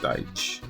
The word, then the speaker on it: Dyche: Sean Dyke? I thought it was Dyke. No, it was Dyche. Oh, okay, Dyche.